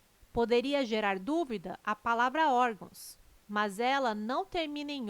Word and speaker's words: órgãos: correto caráter intransferível e órgãos tem sua sílaba tônica na penúltima sílaba são paroxítonas observação Poderia gerar dúvida a palavra órgãos mas ela não termina